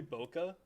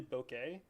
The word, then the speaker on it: bokeh: can this is really the swirly bokeh sorry this really bouquet okay it's only the real photographers auto pronounce it properly okay well okay then